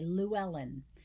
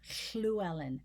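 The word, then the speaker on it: Llewellen: pronunciation we would say luellen they don't say it that way it's schluelen schluelen the sound's coming um there's a fricative sound coming alongside a liquid so it's a combining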